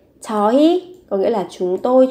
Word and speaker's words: 저희: ta dùng cái từ 저희. Viết là 흐이 nhưng khi phát âm thì các bạn sẽ phát âm thành y. 저희 có nghĩa là chúng tôi, chúng em, bọn em.